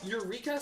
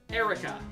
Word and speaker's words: Eureka: It's looks like it should be pronounced Eric Eureka 7. Trust me, as someone who watched it when it was being aired on Tsunami, it's Erica 7.